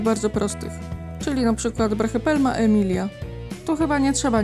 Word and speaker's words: Brachypelma: Możemy to wymawiać po prostu jako brachypelma. Co prawda Y można wymawiać tak jako I, więc jeśli usłyszycie kiedyś brachypelma, to też nie jest to błędem.